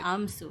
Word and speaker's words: Amsu: You remember that Inaya The said his lady name just is said, Amsu. yeah. What to spell? AMSU. Yeah. Su. Oh, I spelled like Hansel without the H.